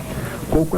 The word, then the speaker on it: coco: acento circunflexo no coco coco é paroxítona terminada em o como rosto como corpo como seco como molho como agosto né como azedo né como carro como